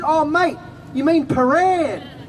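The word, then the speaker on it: Prahran: oh mate, you mean Paran? And my dad said, no, Pahran, it's spelled P-R-A-H-R-A-N. He spoke good English, he could actually read English. He didn't know it was pronounced Paran.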